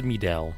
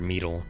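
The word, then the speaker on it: Mideel: So, this is Midell or Mele, however you want to pronounce. I kind of like pronouncing Midell.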